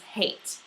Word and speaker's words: hat: Now, when there is a single consonant after the vowel, then it's a long vowel, which means that it is said as the letter is pronounced. So the letter A, the letter A, Norwegian A, is pronounced A, so you have hat.